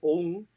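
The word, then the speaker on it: ông: flex on top of it a carrot it's pronounced om and it is a term for a man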